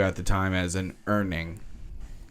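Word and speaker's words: Urning: the time as an earning u-r-n-i-n-g earning um although it that might be the German pronunciation of the word and it's pronounced slightly differently it has to do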